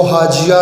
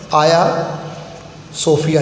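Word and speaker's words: Hagia Sophia: हाया सोफिया, अच्छा देखिए इसकी प्रोनाउंसिएशन ध्यान में रखना, जी है, लेकिन टर्किश लैंग्वेज में जी ज़रा साइलेंट होता है। इसको हाजिया भी कुछ बुक्स में आप देखें लिखे हुए, लेकिन सही प्रोनाउंसिएशन आया सोफिया है।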